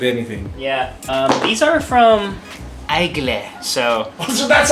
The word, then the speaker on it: Aigle: These are from Ople. So. So that's how you pronounce it. I know. So I used to say Igel. Me too. I keep seeing them in the mall, and I keep saying Igel.